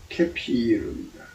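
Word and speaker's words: כְּפִיר: 포효인데, 사자가 히브리어로, 음력으로는 커필이에요. 커필. 그리고 발음으로는 케피르입니다.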